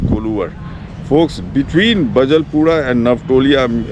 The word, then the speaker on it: Koluwara: Kondana is a mispronunciation of Koluvar.